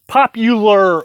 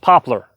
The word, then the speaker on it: poplar: you know by now I've talked about this popular would I know the word is pronounced poplar I get it you don't have to tell